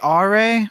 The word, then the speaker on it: Are: Yeah, because General R, his name is spelled Are, like the word R, like the English word R.